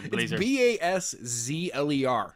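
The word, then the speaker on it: Baszler: butchered her last name it's like Dazzler yeah Shanna blazer blazer blazer bas ZL er yeah yeah yeah that's right now you're thinking about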